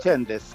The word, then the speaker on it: Csendes: Espero haber pronunciado bien el apellido. Doctor, ¿cómo está? Muy buenos días. Así es. Muy buenos días. Muchas gracias por la llamada. Está bien. Es Chendes. Sí, Chendes. Ya.